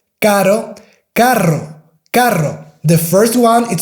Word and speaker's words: carro: The first one is caro, which is expensive, and the second one is carro, which is car. So car, expensive, in Spanish is carro, caro.